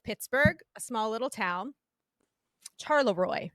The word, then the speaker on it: Charleroi: Charleroi is how it's pronounced, I believe.